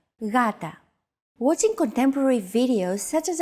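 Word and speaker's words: γάτα: word Gata meaning cat this is usually romanized with an initial G letter but it is no pronounce Gata the first consonant is softer Gata watching contemporary videos such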